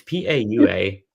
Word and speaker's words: paua: No, it's PAUA, which I'm not sure how to pronounce that. Pauwa.